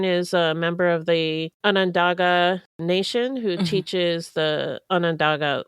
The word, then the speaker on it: Onondaga: us the pronunciation of Onondaga, which we were pronouncing wrong. I think we were saying Onondaga or something. Whatever it was wrong. Onondaga. Yeah. Onondaga.